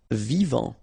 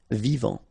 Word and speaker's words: vivant: Vivant. Final T not pronounced. Vivant.